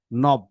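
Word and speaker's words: knob: খ্ন অব খনব, এই যে খে আর এন, এটাকে বলা হয়, এই খেইয়ের সাউন্ড নাই এখানে, এটা সাইলেন্ট। নব, এটাও নব।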